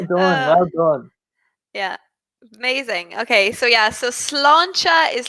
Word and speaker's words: sláinte: So in Ireland, we say sláinte. For the pronunciation, sláinte.